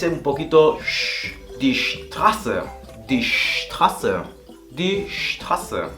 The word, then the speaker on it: Straße: Hace esta S un poquito die Straße.